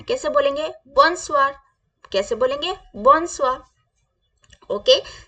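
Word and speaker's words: bonsoir: किसी को good evening बोलना है कैसे बोलेंगे बोन स्वा कैसे बोलेंगे बोन स्वा बन स्वा ठीक है किसी को गुड इवनिंग ग्रीट करना है कैसे बोलेंगे बोन स्वार कैसे बोलेंगे बोन स्वा ओके समझ गए होंगे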